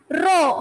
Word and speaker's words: rho: So here the equation is R is equal to rho. How it is pronounced?